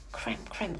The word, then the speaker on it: cram: 그리고 cram in, 우겨넣다 라는 뜻으로 써주는 cram 하면은 cram, R 발음이에요. cram, 우겨넣다.